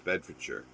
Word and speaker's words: Bedfordshire: live in bedfordshire and it's like no it's bedfordshire they go oh it says your bed for charge yeah but it's pronounced bedfordshire or beds you know the english